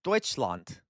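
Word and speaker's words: Deutschland: Does anyone know um the German word for Germany is Deutseland Deutseland? It is not Germany. That is a English anglicized English way of saying it.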